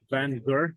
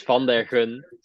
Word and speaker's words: Van der Gun: of speaking with Van Gur, if I said it correctly. Van der Correct me. Gun, yeah. Van der Gur, my bad. In Dutch, it's Van der Gun. That's the appropriate accent.